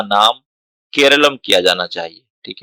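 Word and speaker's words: കേരളം: तो नाम should be Keralam, ना कि केरला।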